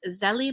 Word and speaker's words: Zélie: So, but in English, most people say it's Zélie.